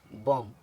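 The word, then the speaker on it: bomb: कॉम इसी तरह इसको बी ओ एम बी को पढ़ेंगे बम और इसको डीओ एम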